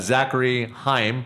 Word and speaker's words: Zachary Haim: So if you're just tuning into the big show right now, I got Zachary Haim. Did I pronounce that right? Yeah, you just sure did.